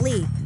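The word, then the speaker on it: Leigh: call me my middle name is Lee but it's not spelled like you think it's l e i g h and it means Meadow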